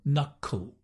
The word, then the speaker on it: knuckle: down to knuckle down hard to pronounce I know no fun to pronounce it's the dark L knuckle to knuckle down and